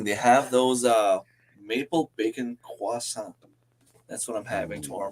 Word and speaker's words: croissant: No, it's not like crescent. It's like croissant.